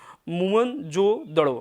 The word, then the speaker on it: मोहनजोदड़ो: जिले में ठीक है मोहनजोदड़ों शब्दों का सही उच्चारण मून जो तो मोहनजोदड़ों मूनमून जो अलग दाउद यह एक अलग उच्चारण इसको जिसको हम बोलते मोहनजोदड़ों ठीक है इसकी खोज